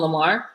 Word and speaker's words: L'amour: We call him Lamar. And his name is spelled like L'amour. Like, it's like French.